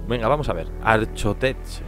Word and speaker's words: Archotech: Gonzalo, ¿quién quería una pierna Arcotech? Venga, vamos a ver. Archotech. Arcotech es como se pronuncia, sí o sí.